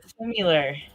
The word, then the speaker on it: similar: I'm sorry it's like every time you say simular I go oh similar I just that's just how you say it it's similar you're like making it too long in like I don't know similar sounds like you're just adding to it when you say it